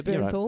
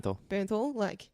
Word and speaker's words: Bernthal: Yeah, Bernthal. right. Bernthal.